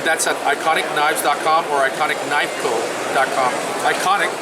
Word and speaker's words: Eikonic: Iconic is spelled E-I-K-O-N-I-C.